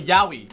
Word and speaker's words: yaoi: Because they're like, you pronounce each individual letters. You go ya-o-i. It's yaoi.